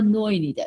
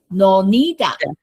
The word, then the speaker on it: Nonida: But it's not a Noinida, it's Nonida. Yes, it's Nonida. rare. Yeah, Nonida is the stress is on the second syllable.